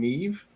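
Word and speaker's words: Niamh: of these names like N I A MH. Apparently, that's the word that's the name Nev or uh what is it?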